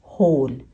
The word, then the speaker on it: whole: इसमें डब्ल्यू एच है पर डब्ल्यू जो है वो साइलेंट है, इसका वो साउंड नहीं है। ओके, तो इसे हम पढ़ते हैं होल, WHOLE को हम पढ़ते हैं होल।